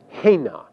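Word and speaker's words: הֵנָּה: And there are also two third feminine plural forms that translate they, and in Hebrew these forms are pronounced hain and hena.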